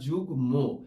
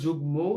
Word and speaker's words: যুগ্ম: সেই শব্দে সাধারণত আমরা যুগ্ম এই কথাটি উচ্চারণ করে থাকি, অর্থাৎ মটা আমাদের উচ্চারণের মধ্যে থাকবে। আমরা এর মধ্যে কিন্তু তোমাদেরকে বলে দিয়েছি। অশ্বিন, আশা করি তুমি তোমার উত্তর পেয়ে গিয়েছো। আমরা যুগ্ম এভাবে উচ্চারণ করে থাকি।